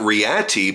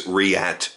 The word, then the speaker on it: Reate: weeks ago uh did find out it's not riti but it is riat knives so I apologize for anybody whom I